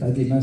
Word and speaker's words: ADEMAS: Ademas, ça s'écrit ADEMAS.